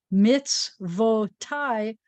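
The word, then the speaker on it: מִצְוֹתַי: And this actually is pronounced tai, tai, tai. So mitzvotai, means my commandments.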